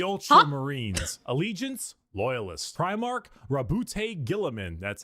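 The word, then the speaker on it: Roboute Guilliman: Primark Rabbout Gillamin.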